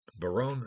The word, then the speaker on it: Baron: century their own or Baron b-a-r-o-n uh I don't want to confuse you by the pronunciation but Barone um notice that some